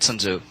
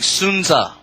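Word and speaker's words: Sun Tzu: college sunu and a lot of people read sunzu apparently and apparently but it's actually pronounced correctly sunza right i' that's something else I'd learned in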